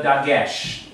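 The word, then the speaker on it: דגש: this letter, I'm going to erase the way it's spelled in Hebrew, this letter, without the dagesh, which is the dot in the center.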